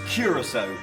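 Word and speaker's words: Curaçao: So I'm saying Curacao. I'm saying Curacao. Like, that's how I would read it. I asked my girlfriend. She's very intelligent, and she also said Curacao. It's Curacao, but, you know.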